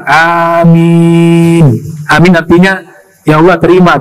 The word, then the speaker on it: amin: Amin, bacanya panjang. Amin.